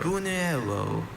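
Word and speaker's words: buñuelo: Are there alternative pronunciations? Just the one. Buno. Buno.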